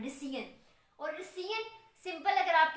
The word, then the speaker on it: rescission: अब इसी cancellation of contract की तो सिंपल टर्म में है ना, इसको कहा जाता है रिसीन। स्पेलिंग भी कुछ अनोखे सी है, RESCISSION, रिसीन।